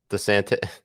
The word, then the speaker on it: DeSantis: or as you call him, how do you pronounce his name? Ron DeSantis. DeSantis.